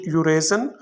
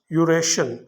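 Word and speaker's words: Eurasia: कसीर उल अतरा fee some people pronounce it यूरेज while others यूरेश नो इट्स अप टू you which way you like to pronounce it both are correct यूरेज Europe और एशिया के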